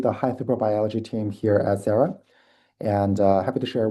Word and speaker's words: Xaira: The company name is pronounced Zera Therapeutics. It may be as confusing as my first name. Uh, so think Zera Thera.